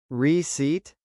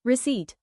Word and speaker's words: receipt: Receipt? The P is silent. It's pronounced receipt.